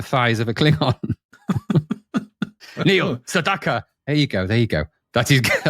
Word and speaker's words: Sedaka: You've got the pronunciation. It's Sedaka. Sedaka?